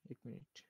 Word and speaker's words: 孟: এটা আপনার এদের সরাসরি ইংলিশের মতো করে পড়তে পারবেন না, আপনাকে একটু ভিন্নভাবে পড়তে হবে, কারণ এটা ফিনিন বলে যে এটা হবে মং, মং, MENG, মং। মং হবে এটা, মং। জি, মং চালা গোরে। গে হবে না, চ হবে না? জি, মং। বাংলায় বললে ম অনুষ্কার, মং, ওইরকম।